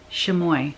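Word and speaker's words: chamois: farm girl Dry Goods shimy I think that's how you say it it's ch a m o i s so I am in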